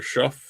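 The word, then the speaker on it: Shough: New Orleans looks like they're going to give Tyler Schuff, I can't believe that's how you say his name, a chance.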